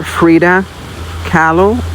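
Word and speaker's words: Frida Kahlo: Or Freda Callo. Um, it's spelled K A H L O.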